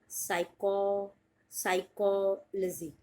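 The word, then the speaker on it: psychology: पी से शुरुआत होती है लेकिन पी होता है साइलेंट, और आप इसको प्रोनाउंस करोगे साइकोलॉजी।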